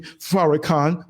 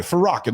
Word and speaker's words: Farrakhan: You won't hear me blasting Farrakhan. Oops, I'm not supposed to name that name. Oh, let me say it wrong. Uh that guy, Farakin, the one that hates Jews.